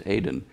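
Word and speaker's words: Aden: Aiden, Adn, which is really close to the pronunciation of Eden. Yes. It's the way it's pronounced in Hebrew and Arabic is Aiden.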